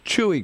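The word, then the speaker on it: Chuy: that it that it came that that it's chewy Garcia right is that they pronounced yeah chewy Garcia right that he was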